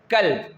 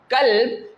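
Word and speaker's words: كلب: The first example which is mentioned is that the word qalb and the second word kalb.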